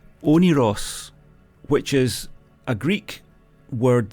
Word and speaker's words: Oneiros: never heard this word before and it's it's pronounced onos which is a Greek word that means the